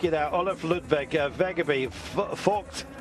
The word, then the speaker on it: Vogt: Olaf Ludwig Vegeby, Vogt. I always stumble over his name, but that's the pronunciation.